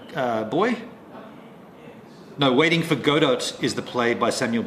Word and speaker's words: Godot: boy no waiting for Godot is the play by Samuel Becky oh they don't pronounce the T waiting for godo godo right so KY what's